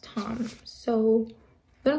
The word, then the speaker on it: Thom: But I was pronouncing his name as Thom forever because it's T-H-O-M. But my boyfriend says his name, it's pronounced Tom. So I'm gonna pronounce it Tom for now.